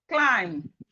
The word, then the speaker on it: climb: So as we can see, whenever we see M and B in a word, the B is silent.